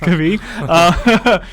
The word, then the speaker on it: Krabi: Well, we're going to be going to Krabi, or Krabi as we were made fun of for calling it. I guess it's properly pronounced Krabi.